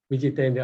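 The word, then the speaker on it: vijitendriya: So Jnana, Vijnana, Tirthatma, Kutasto, Vijitendra. Again, the T in Vijitendra is soft.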